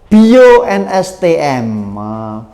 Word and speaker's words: Bio NSTM: Ganti ini ya terbaca 8 IO NSTM, tapi teman-teman bacanya Bio NSTM.